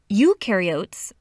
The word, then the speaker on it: eukaryotes: mitochondria and Golgi apparatus eukaryotes the U rhymes with do they do have membrane-bound